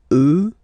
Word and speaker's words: eux: get the sound remember, final X not pronounced, and then plural elle, elle. Okay, so let's see them one more time. Moi, toi, lui, elle, nous, vous, eux, elle.